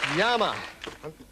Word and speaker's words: llama: Llama. Llama is correct. Or as they say in Came America, yama. They pronounce their double L's in a different way.